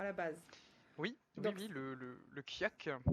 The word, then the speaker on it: Kjøkk: Oui, le kiak. Le kiak, et donc ça s'écrit K-J-O-K-K, je l'aurais jamais prononcé du tout comme ça.